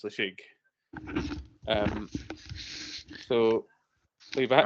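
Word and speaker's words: Ledaig: a heavily peed whiskey called league which is spelled l e d a i g. So if you've seen that it's not league it's lashig.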